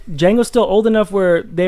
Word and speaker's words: Django: off in some instances like Django like it's Jango Jango godam says it in